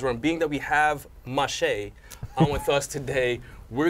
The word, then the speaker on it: Mache: Mache, like a mosh pit.